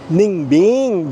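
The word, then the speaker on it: Ninh Bình: So ganun kasi yung pagkakabigkas nung ninbing. Ningbing ganon.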